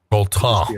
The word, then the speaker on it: Autun: You wouldn't pronounce the N. Auton.